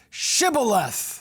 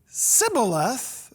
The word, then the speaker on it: shibboleth: replied no no they said all right say shibboleth the term shibboleth simply means an ear of corn if he said sybileth because he could not pronounce the word correctly